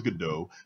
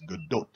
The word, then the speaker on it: Gadot: First, people thought it was Godot. Then it was corrected, quote unquote, as Gadot by I think it was Jimmy Kimmel. Fair She enough. herself actually pronounced it correctly.